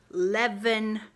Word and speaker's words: Leavenworth: Leavenworth.